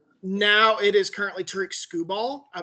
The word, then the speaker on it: Skubal: Now it is currently Tariq Skubal. Am I pronouncing his name right? As I understand it, yes. Skubal.